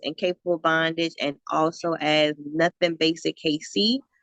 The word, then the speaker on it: NuthinBasicKC: bondage and also adds nothing basic Casey but nothing is spelled n-u-t-h-i-n basic the letter K the letter c I'm on Tick Tock